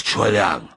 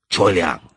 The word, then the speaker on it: Choi Liang: Bending down, he pulled my ear to his mouth and said emphatically in his phlegmatic voice, "My name is Choi Liang. Do you hear that? 2 syllables. Choi Liang."